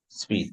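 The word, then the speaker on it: suite: picture yeah should ah this one is sweet because it's got KNE on the if it doesn't have an e It's s but you add the E becomes sweet sweet this is a French word it's a word you know English we borrow a lot of words that's a French word so it's a French rule with okay another one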